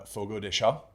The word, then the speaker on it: Fogo: at all and uh Fogo that's how you say it so when you guys